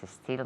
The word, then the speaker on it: still: Still tiene dos sílabas. Still tiene una.